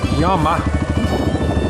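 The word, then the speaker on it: llamo: Spanish uh the uh the L in L is not pronounced the hard way that we pronounce it it's y so if I say may haly Yama May Hal Yama that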